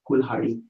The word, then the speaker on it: kulhadi: a d with e, kulhadi. And as I said, you can really pronounce it as like a cool, and then ha, and then d. Okay, kulhadi.